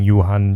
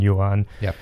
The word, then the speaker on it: Johan: In French, we don't pronounce the H, so that's why it's Johan, but that's fine. I always say I'll take anything. Johan, Johan, it's all good.